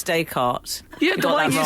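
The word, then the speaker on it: Descartes: saying the wrong that said desk and someone said oh actually it's day cart yeah do why you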